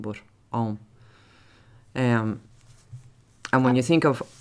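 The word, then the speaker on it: Ogham: But one of the things that I've been thinking about lately is the language of Om, which is spelt O-G-H-A-M, but pronounced Om. Some people say Ogam, but Om.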